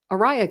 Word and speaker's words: Araya: Araya came with her name, and I was like, that's a cool name. It's like Mariah, but without the M.